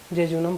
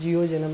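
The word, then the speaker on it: jejunum: ठीक है, ये हो गया इसका स्पेलिंग, जे जूनम बोलते हैं उसको। ठीक है, जियो जेनम नहीं बोलते हैं, जे जूनम बोलते हैं।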